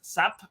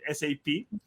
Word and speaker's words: SAP: A lot of us know it as SAP, but the right pronunciation is SAP.